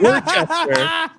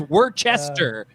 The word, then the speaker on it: Worcester: I went to Boston and I called it Worcester, and they all agreed that that's the correct way to pronounce it, and they did so kindly.